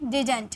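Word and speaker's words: didn't: Okay, इसे हम डिंट भी बोलते हैं। देखिए इसकी प्रोनाउंसिएशन 2 होती है, या तो आप डिंट यूज कीजिए या तो आप डिडंट यूज कीजिए, दोनों इसकी प्रोनाउंसिएशन होती है।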